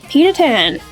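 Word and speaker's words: Pita-Ten: PETA 10. Like pita bread and the number 10.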